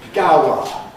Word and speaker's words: Gower: And you get the answer, "It's in Gower Street." You have to be able to interpret that Gower means Gower.